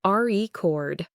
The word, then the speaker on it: record: Later, when we practiced, he learned to land on that first syllable with confidence. Let's look at the re chord.